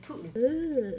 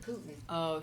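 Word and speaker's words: poutine: in determined to say Putin and that's how I said it and I was very quickly cored um no you say Putin Putin like the dictator like Russian dictor can't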